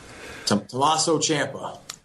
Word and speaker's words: Tommaso Ciampa: Tommaso Ciampa. Tommaso Ciampa. I'm sorry to get his name wrong.